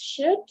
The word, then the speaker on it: should: So as I was explaining this part of the pronunciation of the models, when we're gonna find models like are gonna contain the letter L, we don't pronunciate them. Okay, it's should, not T, right?